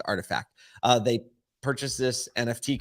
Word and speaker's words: RTFKT: sneaker company named artifact it's actually pronounced artifact but it's uh what